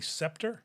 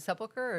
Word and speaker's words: Sepulchre: I have no idea how the Church of the Holy Scepter? Sepulchre, probably. Is it sepulchre or scepter? I believe so. Yeah, but there's not a mosque there. Yeah, I mispronounced it. Sepulchre.